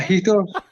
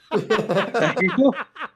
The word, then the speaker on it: Acheeto: Acheeto, Acheeto. That's perfect. I love it. It's perfect pronunciation.